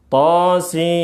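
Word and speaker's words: طسم: Ingat bacanya bukan sa tapi si berdasarkan huruf hijaiyah yang awal atau ejaan huruf hijaiyah yang aslinya. thosim mim seperti itu.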